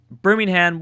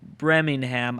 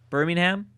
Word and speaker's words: Birmingham: spelled the same way uh that's why I pronounced it like brimingham I guess it is Birmingham Birmingham Birmingham like the uh City from Bama